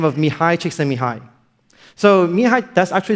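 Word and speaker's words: Csikszentmihalyi: question and they said my name is pronounced Mihi chick. That's actually the correct way to pronounce it.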